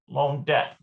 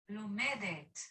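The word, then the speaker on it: לומדת: And I think it's probably just a tav here, Lomdet. Let me double check that. Lomdet. Yeah. Lomedet. It's Lomedet. Yeah, my first thought was right.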